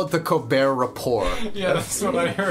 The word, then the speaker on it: Colbert Report: Yeah, is he taking the piss out of the fact that like, haha, you don't pronounce the first T, so haha, let me not pronounce the second T.